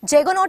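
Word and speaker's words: juggernaut: जेगोनॉट इज the correct pronunciation, मगर आप लोग याद कर लो जगन्नाथ।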